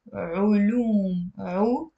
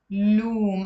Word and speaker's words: علوم: Okay, now in the plural, if you want to say sciences, we pronounce it علوم, علوم.